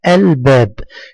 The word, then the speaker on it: الباب: خطا لانها لام قمريه ولا بد ان تنطق مثل مثل باقي حروف الكلمه الباب الباب هنا اللام كتبت